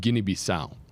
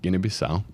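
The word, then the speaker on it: Guinea-Bissau: in the nation of Guinea Bisau, which is very Muslim dominant. Yeah. And if you're wondering why I pronounce that so perfectly, it's cuz I speak Portuguese, right? Guinea Bisau.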